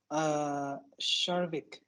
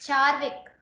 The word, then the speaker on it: Charvik: So Sharvik, I hope I'm pronouncing that correctly. So it's Charvik. Charvik.